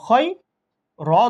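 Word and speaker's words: خير: এটা দেখেন, খ ইয়া জবর খয়, র দুই ফেশ রুন, খয়রুন। আপনি উচ্চারণ করার সময় যখন ওয়াকফ করবেন তখন কিরকম হবে? খয়র, এরকম এক আলিফ টেনে পড়তে হবে, দুই আলিফও টানা যাবে।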